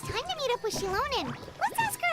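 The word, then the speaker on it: Xilonen: Oh, it's time to meet up with Shilonen. Let's ask her how things have been going. Shilonen. Oh no. I can't. That's terrible. I shouldn't have problems speaking. Ooh. Hey, Shilonen, how's everything Shilonen.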